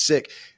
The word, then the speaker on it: Sikh: We had him on the show, and he told me how to pronounce it. And so when I did afterwards and said it's sick, everybody, all of the Americans, of course, corrected me. No, it's Sikh, dude. And well, actually, it's not.